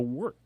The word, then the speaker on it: Wørt: The Wort. The Wort. I got to say it. I said it right. I have to overemphasize the The Wort.